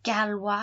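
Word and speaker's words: gallois: that and then lu galwa has a double l and that's how we make that wah sound i love spanish but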